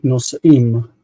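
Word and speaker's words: נֹשְׂאִים: Yeah, so it's nos'im, right? Nos'im. Yeah. And of course, the geresh or the meteg here indicates that this is a long vowel before shva.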